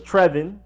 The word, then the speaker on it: Trevon: of Alabama Trayvon Diggs somebody might think is Trevon or a Trayvon and yes he's the younger brother of Stefon Diggs if y'all wondering but his name is tre von Diggs Trayvon